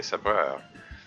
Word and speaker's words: sabreur: So I guess I should pronounce it the French way, sabreur.